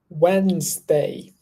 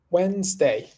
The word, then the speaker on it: Wednesday: word here before how do you say that Wednesday Wednesday Wednesday Wednesday cool Wednesday we have a meeting